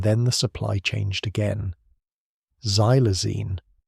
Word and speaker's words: xylazine: Xylazine, pronounced Zylazine, though most people in Kensington simply call it Tran, began appearing in Philadelphia's drug supply around 2019.